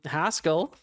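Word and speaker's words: Haskell: to okay Pascal um hascal rhymes with Pascal um you've got your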